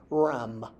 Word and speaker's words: rm: from last week that fish is pronounced Ram RM which can either be